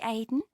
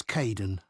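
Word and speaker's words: Kaeden: Hi, Aiden. Uh, it's Kaden.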